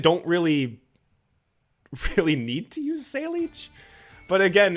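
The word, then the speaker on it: Saileach: Sayleech, or Saylock, as it's supposed to be pronounced, but I will say Sayleech.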